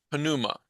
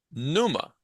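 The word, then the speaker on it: πνεῦμα: En griego se pronuncia cada consonante. Nosotros usamos diptongos, etcétera. Decimos, bueno, por ejemplo, en inglés, este sería pronunciada pneuma, ¿sí? Evitamos la P, o la P es silencio, ¿cómo se llama? Silencioso, algo así, Muda. ¿sí? Muda. Esa palabra es muda, esa letra consonante es muda.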